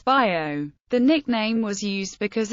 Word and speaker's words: Vigo: The standard pronunciation of Vigo in both Galician and Spanish is Bio.